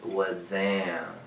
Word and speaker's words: Wazzam: So y'all, the correct way to say it is was Zam. Like Zam, like Zam, like damn.